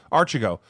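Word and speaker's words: Archegos: Those people out there, how do you say that, Roland? Roland's in the audience. Say Archigo. Yeah. Archigo, who is a Tiger Cub.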